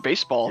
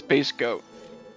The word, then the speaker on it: Base Goat: I should have said it right. It's Base Goat.